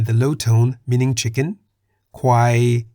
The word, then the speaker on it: ควาย: For example, Gai in the low tone meaning chicken, Kwai in the middle tone meaning buffalo, Chang in